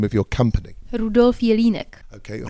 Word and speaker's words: Rudolf Jelinek: Rudolf Jelinek. Okay, Rudolf Jelinek.